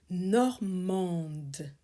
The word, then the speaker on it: normand: Chaque bouchée est un voyage dans la tradition normande. You pronounce the D because you have a E following. Normande. Les villages normands. Here you don't pronounce the D because it's un village. It's masculine.